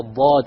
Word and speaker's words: ض: It is very important that you don't make a dad into a dal or a d sound, because the dal comes from the middle of the tongue, but the dad, remember, it comes from one entire edge of the tongue along with the molars.